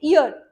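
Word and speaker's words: heir: ये भी एच से शुरू तो होता है पर साउंड इसकी एच साइलेंट होता है। साउंड में कंसोनेंट नहीं होता। इसमें भी वोवेल होता है। वर्ड है यह इयर।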